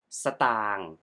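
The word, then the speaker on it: สตางค์: Primary Thai currency but When We pronounce stang We pronounce ส just the have Sound And Say tang Right Away stang If you say สะ ตา you will use S as a full Sound we say ส as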